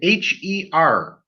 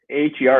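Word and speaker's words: H.E.R.: is hosting yeah um herr appears to be a a single person um gabriella wilson uh it's pronounced her you don't say her um it's an acronym for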